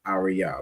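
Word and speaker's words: אריה: Each of those letters pronounced fully. So the word is arya which is lion.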